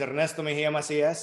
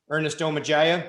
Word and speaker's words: Ernesto Mejia Macias: for the opportunity secondly my name is ernesto mejia macias if you can't roll your r's like i can call me what my kindergarten through sixth grade teachers called me ernesto magia same dude i'll be